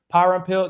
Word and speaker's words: Parampil: the show everybody power and pill do I pronounce that correctly yes yeah see pays the